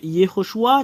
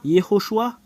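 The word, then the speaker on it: יהושע: changé son nom et Yoshua qui qui veut dire salut en anglais c'est Salvation voilà écoutez bien alors le fait de prononcer ce terme c'est Yoshua le voilà alors que nous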